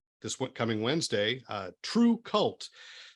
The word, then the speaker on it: TRVE KVLT: one coming wednesday uh true cult so my first question actually is i'm am i pronouncing it correctly or is there some kind of great heavy metal pronunciation i'm totally missing like you know you got it we were we've been collecting the odd uh pronunciations but you got it right it's our fault for